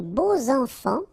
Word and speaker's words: beaux enfants: Les beaux enfants, okay, so you make the liaison between beau, so adjective, and enfant. And here it's quite interesting because even if you've got this X, well, phonetically it will be like Z, so like if it would be an S, okay?